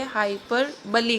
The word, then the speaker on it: hyperbole: जब आप इस वर्ड को रीड करेंगे तो आपके पास वर्ड है BOLE, तो हम कई बार इसको पढ़ सकते हैं हाइपरबोल या हाइपरबोले, लेकिन ऐसा नहीं है।